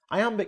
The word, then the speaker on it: iamb: about sound not spelling I Amba can't amateur may sound technical but there's an easy way to remember what it means the word I am is pronounced just like the phrase I am now let's expand that